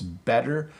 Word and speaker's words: better: They'll think it sounds normal, but we certainly don't say it as a hard T.